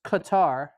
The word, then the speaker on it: Qatar: It's Qatar.